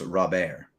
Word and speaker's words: Robert: article about how his name is so often pronounced wrong and it's rob ayer yeah so michael and chad says he's definitely